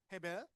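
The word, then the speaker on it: הבל: 이것도 근데 정확한 발음은 헤벨입니다. 헤벨.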